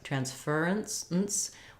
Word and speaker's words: transference: word um but let's let's go with the the middle syllable stress here so that would sound like trance for instance um where I'm writing this last syllable with no vowel letter because we're you we're going as quickly as possible from the from the ER sound to the n Sound ferns transference where this is a syllabic